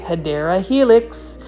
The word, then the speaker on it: Hedera helix: Yep, it's the correct way to say it, Hedera helix, or English ivy.